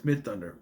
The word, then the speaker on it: Midthunder: And even though his girlfriend is involved, I read the last name wrong. It's like no, focus, it's Midthunder.